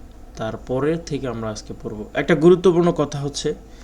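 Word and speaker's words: ح: সদ সদ লাম হা, হা উচ্চারণ করার সময় গলার ভিতর থেকে উচ্চারণ করতে হবে।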